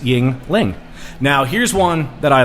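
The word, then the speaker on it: Yuengling: be able to get a uh a Yingling pronounced Yingling now here's one that I like coming out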